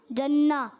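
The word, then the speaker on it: الجنة: تو اب یہ الجنہ, اس میں نون پر تشدید ہے, یہ مشدد ہے, اس کو 2 مرتبہ پڑھنا ہے.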